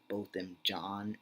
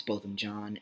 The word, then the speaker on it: Botham Jean: the last name and I thought it was pronounced Jean but I watched a news report that pronounced it John so I think it's both him John and that's all I'm